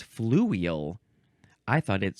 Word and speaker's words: fluvial: It's fluvial.